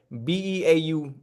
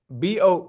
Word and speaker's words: bough: Now I could be wrong, but Beau, Beau. Now watch that be right. No, that's bow. You're wrong. Bough. Bough.